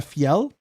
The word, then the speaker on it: Fel: I dropped a fel and I learned how to say it correctly. It's the Grimsmo Fel knife. That's how at least how Grimmo pronounces it.